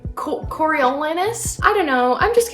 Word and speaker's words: Coriolanus: half of the book I called Cornelius that's not his name it's like coriolanus I don't know I'm